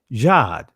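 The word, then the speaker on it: جد: It says in Arabic, it's actually pronounced Jad, which means good fortune, means luck.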